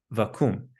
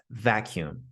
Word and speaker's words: vacuum: Be careful though not to say vacuum. It has a u sound, not an ooh sound. It's vacuum.